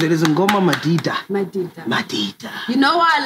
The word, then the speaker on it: Madida: Madida. Madida. You know why I love Madida? Mm? Everyone can pronounce it.